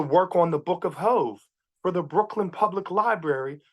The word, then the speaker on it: HOV: Also thank you for pronouncing that because I think I said Book of HOV when during the bio, so apologies No, for no, no, no. mispronouncing. It's all good. The Book of Hove, which was Jay-Z's exhibit at the Brooklyn Public